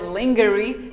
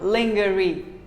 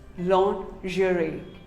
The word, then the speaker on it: lingerie: another commonly mispronounced word lingerie well most of us call it lingerie no it is not lingerie it is actually called lingerie say lingerie long jury what do you call